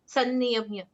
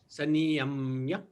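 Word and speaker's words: संनियम्य: So we need to slightly stress upon the N in sanniyamya. Sanniyamya. Sanniyamya. Yeah, like SUNNY, sunny in English. So let's we can Sanniyamya. try and make that analogy.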